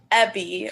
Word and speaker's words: Ebby: so actually it's pronounced epi but I always say like like a bee but with an e because no one ever